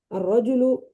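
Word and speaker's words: الرجل: আস-সাআতু, আত-তিলমিজু, এই যে আলিফ লাম ঠিকই আছে কিন্তু লামটা আর উচ্চারিত হয় না, লেখায় আসবে লাম কিন্তু উচ্চারণে আত-তিলমিজু, আত-তিফলু, আর রজুলু, আজ-জাহরতু, আস-সাআতু।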